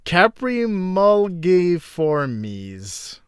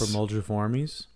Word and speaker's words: Caprimulgiformes: I'm just buying time because I'm dreading the order, which is Caprimulgiformes. Yes. Caprimulgiformes? I'm going to just say it's a hard G because, yeah.